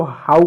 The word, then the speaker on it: how: यहाँ पर देखो इसको आप क्या HOW, एच को ह और ओ को OW को ओ नहीं पढ़ोगे, इसको हो नहीं पढ़ोगे, इसको हाउ पढ़ोगे, हाउ।